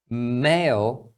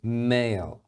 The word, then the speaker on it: male: Male e male. Então as duas palavras são pronunciadas male.